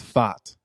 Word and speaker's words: Pfaadt: It's not Brandon Pfaadt. I looked up his Fott. Fott. It looks like Brandon a Fott. Fott. Fott. You got to get the D in there too, or no?